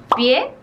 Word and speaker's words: pie: La siguiente palabra es pie, que en francés no se pronuncia la E del final y sería pi, y es urraca, así